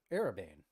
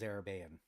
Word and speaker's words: Araban: to have lunch with araban as I mispronounced my own name vaguely it is araban but I'm lazy it's